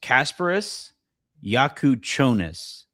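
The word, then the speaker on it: Kasparas Jakučionis: Quote, the name is pronounced Kasparis Yakuchonis.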